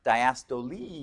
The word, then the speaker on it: diastole: When you look at those, it's like looks like systole and diastole, but it's diastole. You pronounce the E.